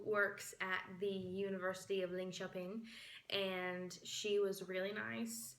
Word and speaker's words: Linköping: It's Linköping. Since sounds kind of like Lynn shopping.